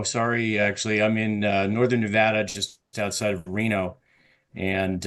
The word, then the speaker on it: Nevada: accent you can say Nevada you know put on your Jersey Shore accent and you can I know it R it rhymes with Vlad it doesn't mean I